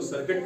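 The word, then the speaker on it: circuit: सी आई आर सी यू आई टी इसको सर्किट पढ़ते हैं।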